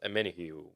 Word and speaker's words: Omenihu: Charles Omenihu. Let me pronounce that correctly.